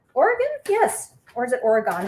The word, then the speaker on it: Oregon: yes or is it oregon how do you it's not oregon you guys don't pronounce it oregon right you pronounce oregon so it's a quarter